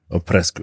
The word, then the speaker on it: Oprescu: can you tell me your surname how to pronounce it just like 100% properly oesco o presco okay because I was think B oesu from